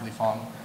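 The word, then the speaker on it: Lee Fang: racist if you pronounce his last name which is spelled f is Fang you're racist because you're supposed to know that it's Le Fong um but he shows up everywhere and he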